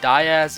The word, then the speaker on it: Diaz: Also, I got bullied by my comments that DIAZ is actually pronounced Diaz, so I guess I'll be using that pronunciation from now on.